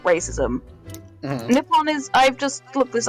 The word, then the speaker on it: Nippon: racism and not racism nippon is i've just looked this up because i couldn't remember and nip on his formal way of pronouncing the native name of japan so actually he's being